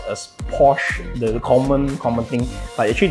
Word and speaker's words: Porsche: So most people actually pronounce as Porsche, the common thing, but actually the proper way to pronounce it is Porsche. So it's Porsche with a sh at the back there.